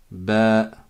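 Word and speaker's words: باء: Là, c'est comme un B en français. Sauf qu'on dit ba. La lettre, elle s'appelle ba.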